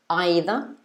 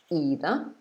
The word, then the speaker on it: either: again the first one either or either and then the second two words neither or neither so you can use any of these words they're all correct they're used in the uk which one would you